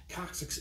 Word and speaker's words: coccyx: coccyx is the medical name for the tailbone coccyx is spelled c-o-c-c-y-x the coccyx consists of three to